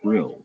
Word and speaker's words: bril: This is something of a pun, because the Dutch word for glasses is Brill, B-R-I-L, while the town of Den Brill is spelled somewhat differently depending on when you're reading about it, but they sound very similar.